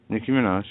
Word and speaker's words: Nicki Minaj: Nicki Minaj. Yeah. Is that is that how you pronounce that name?